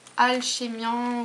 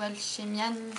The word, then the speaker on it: Alchemian: Donc c'est une commande qui provient de chez Alchéan ou Alchéan, tout dépend comment vous prononcez, italien ou français.